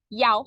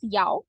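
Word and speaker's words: 一: hear that so Chinese in order to avoid this tell or link Yao China it doesn't necessarily need to be read as Yao but if you read it as Yao you can avoid the mistake of confusing e and she okay then we have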